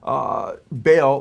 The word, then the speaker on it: Baal: And then Baal, or he says Bel, B-E-L, or Baal, he spells it B-A-A-L, how the Bible spells Baal or Baal, it's pronounced in Hebrew, which is the Canaanite god.